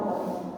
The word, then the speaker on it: বাংলা: কিন্তু যখন আমরা এটি উচ্চারণ করব তখন এটি ও এর মতো উচ্চারিত হবে।